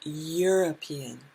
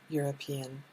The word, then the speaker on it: European: the sound is y the sound is european the u sound is not a vowel sound so we say ah european and here we say